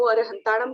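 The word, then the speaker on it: अरहंताणं: कोई अरहंताणम बोलता है, कोई अरिहंताणम बोलता है, और कहीं कहीं मैंने नहीं देखा, बुक की बात है, अरुहंताणम भी आया है एक वर्ड। तो इनमें से कौन सा सही है, हम कैसे इसका सही उच्चारण करें? तो पता चलता है कि अरहंताणम, अरिहंताणम और अरुहंताणम, ये तीनों प्रोनाउंसिएशन सही है।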